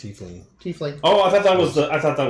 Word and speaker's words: tiefling: I say tiefling. The correct pronunciation is tiefling.